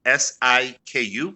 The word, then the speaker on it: Siku: You're gonna have to help me with the pronunciation because I'm not a native Kiswahili speaker. Yeah. It's Siku, which is Siku, and then the Exactly.